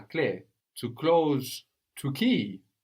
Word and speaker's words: clé: And clé has the E with the accent on it, which is why we hear it clé rather than cl.